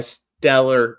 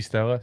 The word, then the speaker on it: stellar: McKinney's having a stellar year. Yes. You say Stella? Stella. No, stellar. That's Stella. I'm not from Boston. I can pronounce my R.